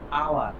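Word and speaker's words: hour: আচ্ছা, ভাওয়ালের মতো উচ্চারিত কনসোনান্টের পূর্বে এন বসে, যেমন এইচ দিয়ে দেখো আওয়ার, এই যে উচ্চারণ তো হ হওয়া উচিত, হচ্ছে না, হচ্ছে কি আওয়ার।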